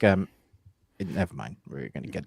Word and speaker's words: Niamh: I don't know, I, but why is Niamh Neve in um, Irish? I don't know. I That's don't it's know. Yeah, it's like never mind.